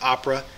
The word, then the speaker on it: OPRA: here is what's called a Oprah code could be pronounced Opera it's really an acronym and the acronym is for I'll show it to you here options price reporting Authority o r a call it Oprah call it Opera whatever works for you